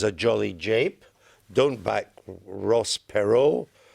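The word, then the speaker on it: Perot: jolly jape don't back Ross pero which rhymes with whacko you've been working on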